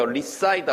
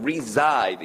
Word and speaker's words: reside: 그다음 발음 조심하세요. reside 아니고 reside.